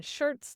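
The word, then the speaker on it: Schertz: We're in Shirts, Texas. It's H E R TZ, not like a shirt you wear, but sounds the same, I think.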